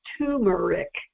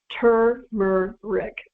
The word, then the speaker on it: turmeric: pet peeve of mine everyone everywhere pronounces it tumeric there's an r in there people let's start correcting that I mean really so let's start pronouncing this amazing root by its proper name turmer Rick okay turmeric not turmeric